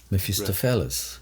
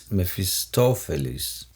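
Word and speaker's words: Mephistopheles: Metofelis. Meistophelis. And in English, Mephestophles. Mephistophles.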